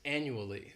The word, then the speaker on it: annually: This word has 4 syllables and the stress is on that first syllable. The second syllable, it's like you're just saying that letter, U. And the third syllable has that schwa, annually.